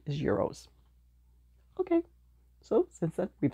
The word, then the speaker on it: gyros: y r oos I always used to say Gyros but then someone told me the correct Greek pronunciation is Euros okay so since then we've said Euros yeah